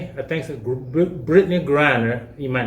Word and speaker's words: Griner: he said speaking of miss greiner brittany griner that's where you pronounce her name okay she's been over